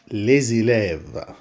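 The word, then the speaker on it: les élèves: بعد كده عندنا ليزي لاف، ليزي لاف. ليه لو جه بعدها اسم مدوب حرف متحرك الاس اللي ما كانتش تتنطق تتنطق بقى، ونقوله ليزي لاف وتتنطق زد، ليزي لاف، ليزي لاف يعني التلاميذ، ليزي لاف التلاميذ.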